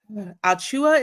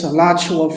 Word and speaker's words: Alachua: Y'all gonna laugh at me, but I cannot pronounce the first part of the movie, but it's Alua. Is it Alua Florida? The movie. It's Elachua, Florida. See, I mess it up every time, y'all.